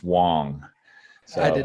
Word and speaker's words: Wang: It's spelled Wang, but it's pronounced Wong.